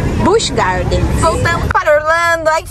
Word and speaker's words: Busch Gardens: Os alto-falantes, eles pronunciam Busch Gardens. Eu tô falando Busch Gardens o dia inteiro. Então, olha, o certinho, vamos aprender juntos. O certinho é Busch Gardens.